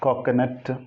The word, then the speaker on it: coconut: This also pronounced wrongly. Net, coconut. It's not a nut, it is coconut.